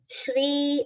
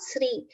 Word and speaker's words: Shri: time to pronounce it oh Shri and not SRI it is a joint letter which is made up of cerebral and grow together should be fully pronounced it's a common mistake